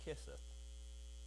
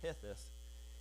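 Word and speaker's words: חסד: Chesed, and it's pronounced Keseth. And you got to put the Scottish stuff on it when you say it, and I can't do that. But it's pronounced Hetheth, and it's like I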